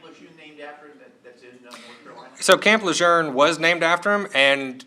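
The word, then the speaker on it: Lejeune: best answer I could give him was it's pronounced lour and in fact we'd argued over this for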